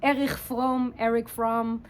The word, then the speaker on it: Erich Fromm: And we're going to do it together with the help of, I would pronounce it Erich Fromm, the German Jewish philosopher.